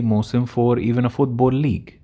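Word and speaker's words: موسم: Musim al-Hajj. Musim, very important word that means season. And it's pronounced Mausim in Fusha, by the way.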